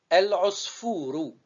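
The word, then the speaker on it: العصفور: El, os, fou, rou. Je répète. El, c'est une syllabe avec soukoun. Os, c'est une syllabe avec soukoun. Fou, c'est une syllabe longue. Rou, c'est une syllabe simple.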